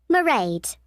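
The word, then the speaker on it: Mairead: you'll see my assistant merade sorry how do you spell that it's m a i r e a d marade okay got that it's not a name i'm familiar with it's an irish name she comes from dublin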